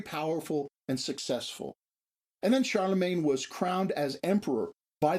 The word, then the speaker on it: Charlemagne: Charles the Great and the English pronunciation for the French name Charles the great is Charlemagne that is the name